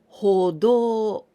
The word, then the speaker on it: 歩道: Now this one, 歩道, we pronounce this the same do.